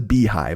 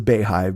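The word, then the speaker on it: BeyHive: So I guess the Beehive, but it's spelled Bey hive. So I'll say the Beehive because it's Beyonce, but I thought it was the Bayhive because of the way it was spelled.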